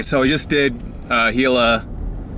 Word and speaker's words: Gila: we just did uh gila cliff dwellings i was calling aguila before angler pronunciation i guess um so it was